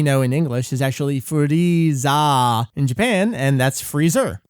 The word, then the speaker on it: Frieza: And also, like the flip side, there's Frieza, whose name is different from the thing he's a pun on because he does not have an extended A sound at the end of his name. And so instead of Freezer, he's just Frieza.